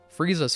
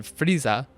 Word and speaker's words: Frieza: ask me how and Frieza is how someone with a Japanese accent would pronounce freezer the place you put all of the food we get some